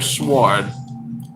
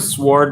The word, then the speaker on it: sword: There's actually people out there that pronounce it sword, and that kind of like, I don't know, half pisses me off, I guess. I know English is a very confusing language when the W is silent there, but come on, buddy.